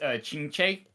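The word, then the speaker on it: Qingque: Uh I'm going to probably butcher her name, but this is Chingch. I probably butcher that name, but like that's how you would pronounce that. That's how the Q's sound in Chinese.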